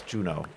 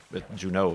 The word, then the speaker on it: Juno: But no, it's Juno. Juno, not however Juneau is spelled.